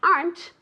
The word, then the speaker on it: aren't: And remember also that the pronunciation of the verb to be in the negative, aren't is one syllable. I never ever ever ever want to hear aren't.